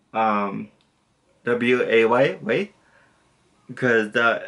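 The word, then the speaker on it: ouais: the fuck, O-U-A-I-S, so you do not pronounce the S, but you pronounce it way.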